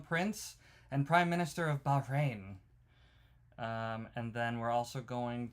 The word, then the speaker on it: Bahrain: Well, it's a great honor to have the Prime Minister and the Crown Prince of Bahrain. I was pronouncing it correctly.